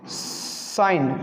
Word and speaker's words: sign: और एक एग्जाम्पल है आपके सामने साइन, ठीक है, SIGN, जिसका मतलब होता है संकेत या फिर चिन्ह, ठीक है।